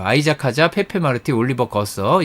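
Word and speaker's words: Goethe: 아이작 하자, 페페 마르티, 올리버 거서. 이 친구는 F3 있다가 F2에 막 올라간 올리버 거서 있고요. 아이작 하자는 프랑스, 페페 마르티는 스페인, 올리버 거서는 독일입니다. 괴테죠, 괴테. 네. 괴테의 그 스펠링입니다.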